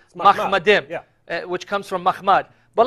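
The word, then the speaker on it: מחמדים: Now, notice how he pronounced it, Muhammadim. Yeah. More accurately, it would be Mahmadim, which comes from Mahmad.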